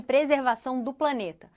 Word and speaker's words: preservação: Que ameaça os esforços mundiais de combate ao aquecimento global e de preservação do planeta. Preservação do planeta. Então, R não muito pronunciado, né? Mas baixo, menos forte.